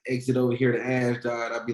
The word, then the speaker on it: Ashdod: Was Maccabi Ashad? Is that what it was? Ashdod, yep. Ashdod, okay, that's how you say it, okay.